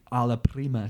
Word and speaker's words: alla prima: He learned the alla prima technique.